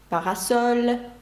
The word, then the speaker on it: parasol: «Papier», «папір» на останній склад падає наголос. «Parasol», «парасолька» від сонця.